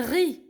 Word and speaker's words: riz: muette d'accord le un riz le riz rose le z je le prononce pas ces lettres muettes ap ap riz ap